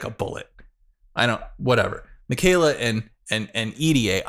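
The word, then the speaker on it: Idie: I say EDA. That the girl from Generation Hope with the fire and ice powers, right? I've heard people pronounce it ID, and I think that sounds stupid. So I say EDA.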